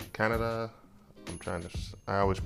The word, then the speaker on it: Kaneda: He's part of a biker gang with his friend Kan- Kaneda. Kaneda. I'm trying to I always mispronounce his name.